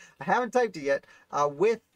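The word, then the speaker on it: Wythe: haven't typed it yet with is not pronounced white as i've learned klingon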